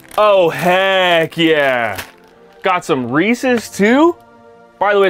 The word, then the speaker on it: Reese's: Got some Reese's too? By the way, it's pronounced Reese's, not Reese's. If you pronounce it Reese's, you're banned from this channel.